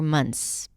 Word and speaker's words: months: about how to pronounce the word months or months. Both pronunciations are valid. So yes, today we're going to talk about how to pronounce the months of the year.